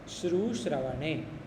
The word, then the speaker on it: श्रु: प्रथम है श्रवण श्रवण सुनने के अर्थ में श्रवणम प्रथम सूत्र है श्रचा इसमें बहुत लोग उच्चारण में एक गलती करते हैं।